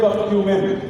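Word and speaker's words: curcumin: जिसको हम कहते हैं कर्क्यूमिन। क्या कहते हैं? कर्क्यूमिन। कुछ लोग उसको प्यार से कर्क्यूमिन भी कहते हैं, असल में उसका प्रोनाउंसिएशन कर्क्यूमिन होता है।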